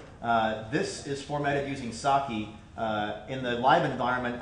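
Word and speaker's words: psake: source and run make so uh PS AK pronounced saki but the concept is to use a DSL that's uh similar to make or rake for Ruby um and have that in Powershell so uh saki is a awesome project to look at and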